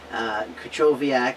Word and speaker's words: Krychowiak: I finally learned how to pronounce that. Thank you, Juliana, for that. Krychowiak is a very solid center defensive midfielder for Sevilla and has recently won their third Europa League.